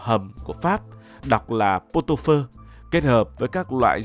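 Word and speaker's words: pot-au-feu: chế biến món thịt bò hầm của Pháp, đọc là Potopơ, kết hợp với các loại gia vị và rau thơm trong ẩm thực Việt Nam.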